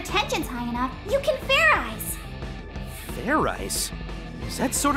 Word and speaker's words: Fairize: idiot like i said it's not fair rice it's fair eyes do it again and this time make sure you pronounce the z zed let's do this right